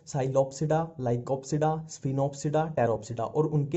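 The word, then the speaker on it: Psilopsida: Pteridophyta में इसमें P silent ही चलता है, जहां भी पी आ गया वहां साइलेंट ही चलेगा। अब देखो, ये है साइलोप्सिडा, साइलो और ये साइलो, ठीक है।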